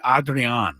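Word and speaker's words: Adrián: have recalled Adrian correct I think I do a nice job pronouncing that you do it's not an easy name for me to say adreon Mor it's got to be adrean yes yes P what he wants to be called yes Padre lineup is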